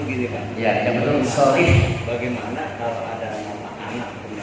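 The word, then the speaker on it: صالح: Bapak seringkali mengatakan kata solih, tapi bukan soleh. Itu mana yang betul Pak? Oh ya, solih. Lalu Ya, kalau soleh ini bahasa Arabnya orang pamulang kuat.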